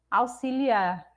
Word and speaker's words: auxiliar: Auxiliar, auxílio, auxiliadora, todas as palavras da mesma família de auxiliar vão ser pronunciadas com S, com X, com som de S.